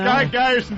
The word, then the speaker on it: Gerson: gon before is it Gerson Gerson is the way I pronounced my name Ron you had it right on uh uh Kevin Kevin you're